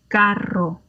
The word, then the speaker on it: carro: Caro, carro.